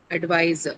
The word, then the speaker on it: advisor: I remember, I think 2 minutes before I told you if you have an ER or OR suffix, then stress is on the first syllable. Advisor.